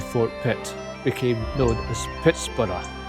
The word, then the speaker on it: Pittsburgh: Pit became known as Pittsburgh. I'm using that pronunciation because it was named by a Scotsman and that's how he would have said it. It is now known commonly as Pittsburgh.